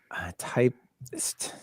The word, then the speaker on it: Typst: T as in typist. Typist without an I. Typist.